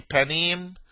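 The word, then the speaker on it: פָּנִים: You see panim pen. That's the Hebrew pronunciation.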